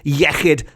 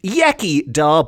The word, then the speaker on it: iechyd: In Welsh, the equivalent is iechyd, which is often pronounced iechyd by people who haven't got their tongues around the correct pronunciation of the Welsh alphabet.